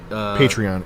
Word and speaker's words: Patreon: Patreon. It should be Patreon.